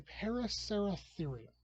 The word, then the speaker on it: Paraceratherium: Anyway, the extinct animal of the week is the Paraceratherium. I've had to memorize this in order to pronounce it right.